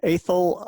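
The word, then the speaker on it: Athol: show and we also have a contingent from a thil Idaho and I hope I pronounced that name right yes sound good oh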